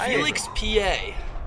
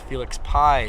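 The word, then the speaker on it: Félix Pie: random oriole a random one you like random felix pa you know what the heck is that so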